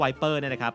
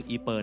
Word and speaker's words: Ypres: นี่ ด้วย เช่น กัน คำ ว่า "Wipers " เป็น ชื่อ เล่น ที่ ทหาร อังกฤษ ใช้ เรียก เมือง อีเปอร์ ใน สมัย นั้น เพราะ พวก เขา ออก เสียง คำ ว่า Ypres ไม่ ถูก ต้อง โอเค ที่ นี่ คือ